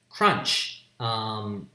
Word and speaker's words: crunch: Crunch. Crunch start with two consonants, k and r. Crunch. Crunch, crunch. So K, R, use a flip R, not just regular R.